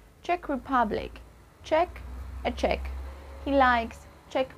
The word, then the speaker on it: Czech: let's pronounce these Advanced countries and nationalities correctly Czech Republic check a check he likes Czech music his check